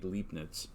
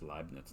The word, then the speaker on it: Leibniz: newton and uh gottfried leipnitz and i think it's actually pronounced leibniz now that i think about it but anyway uh newton